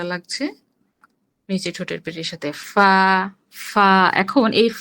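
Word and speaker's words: ف: থেকে উচ্চারণ করতে হবে ফা নিচের ঠোঁটের পেট সামনের উপরে দুই দাঁতের আগার সঙ্গে লাগিয়ে উচ্চারিত হয় ফা ফা ফা হুম ফা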